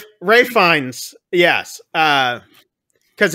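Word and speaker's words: Fiennes: but it's so like like Americans we can pronounce this Ralph that's right that's right right finds yes uh because it's like Rafe yes Ray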